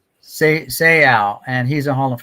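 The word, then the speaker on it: Seau: Seal.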